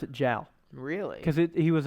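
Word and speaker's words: joule: anybody anywhere else in the world they will pronounce it gel really cuz it he was a French man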